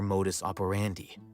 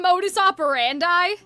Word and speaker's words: modus operandi: And so she's saying it to rhyme with dandy and brandy. But if it's modus operandi, that doesn't rhyme.